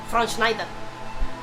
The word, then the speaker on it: Schwarzenegger: How did you pronounce that? Schwarzenegger.